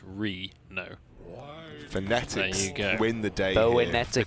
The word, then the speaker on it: Reno: He's tweeted us saying it's not Renault Jackson or Renault, as is, we're sort of pronouncing it. It's Reno.